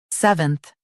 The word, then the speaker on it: seventh: seventh Now read the syllables shown on the screen naturally. sev enth seventh Stress s e v and keep enth light.